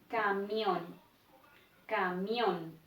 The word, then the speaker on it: camión: consciente para nuestros sentidos nos daremos cuenta que esta última sílaba tiene mayor intensidad camión camión dentro de las reglas